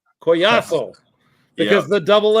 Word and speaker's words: Collazo: And when we look at your last name, we can say collo or we can say what, Leo? Coyaso. Coyaso because the double L is never.